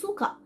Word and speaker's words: suka: অথবা আমি বলতে পারি সুকা, মানে হচ্ছে আমি পছন্দ করি। সুকা মিন্স পছন্দ করা। সুকা, এস ইউ, সু, ওকে? So that's how we pronounce the ইউ।